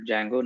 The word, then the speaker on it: Django: was showing the package Jango uh it starts with d but D is silent so it's called Django not Django uh so